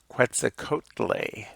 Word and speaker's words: Quetzalcoatl: Aztec people in Mexico quite the Codel or something like that Quetzalcoatl what's a coat lei is another way that's pronounced but this is just